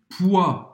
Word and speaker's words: poids: Gagner du poids. Peso em francês. Poids, você não vai pronunciar nem o D, nem o S.